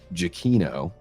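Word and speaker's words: Giacchino: And shout out to Michael uh Jakino. That's how you pronounce his name.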